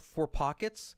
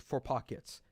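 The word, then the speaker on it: 4Pockets: i was speaking about four pockets i think you yeah i think you're actually supposed to pronounce it for pockets not four pockets uh for pockets because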